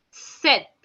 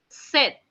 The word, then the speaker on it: sept: 7 is written down as SEPT, where P is silent, guys, and it is pronounced as set, set. Okay, set.